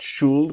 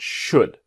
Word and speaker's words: should: i should do now remember should the l is silent not shulled but should what do you think